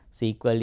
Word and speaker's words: SQL: example microsoft sql server sequel is the name pronunciation used for sql at the early days so earlier sql was pronounced as sql now we use ah sql ah when you refer to the structured query language also there are other